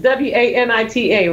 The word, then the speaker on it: Juanita: So, like, Juanita is Wanita, right?